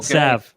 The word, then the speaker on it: salve: put the salve on. Okay. Sav. Yeah. Okay. There you What go. did I say? Solve. I mean, I don't know if you don't have to pronounce the L. Some people do.